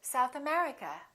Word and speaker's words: South America: and names of places if the place has two words we stress the second word for example South America we say South America United Kingdom we say